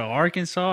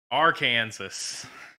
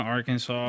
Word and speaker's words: Arkansas: want to go to Arkansas you want to go to Central Asia our Kansas that's not how you say it Levi sure it